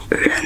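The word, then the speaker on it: 人: toàn chỉ là sự kết hợp của cách phát âm của từng ký tự , ví dụ: bây giờ đây là "Ren" "Ren" và thế là xong, bạn có vài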